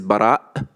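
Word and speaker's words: Baraa: For example, my name is Bara. This doesn't really, it's not easy for non-Arabic speakers to pronounce the glottic stop.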